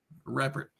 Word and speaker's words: Reppert: So, despite my Instagram story and my perfect pronunciation, please tell us your last name. Reert.